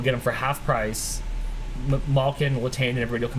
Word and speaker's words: Malkin: Steve also pointing out that you guys have to resign Malkin, and I never know if it's Malkin or Malkin because they pronounce it both ways. It's Malkin.